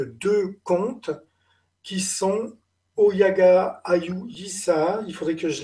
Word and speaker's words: Ayoo: Ayu, ça s'écrit Ayoo, parce que c'est la forme phonétique anglaise, les deux O se prononcent en OU.